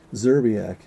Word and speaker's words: Szczerbiak: So do you just say Szczerbiak and not say it's a silent S? Szczerbiak, yes.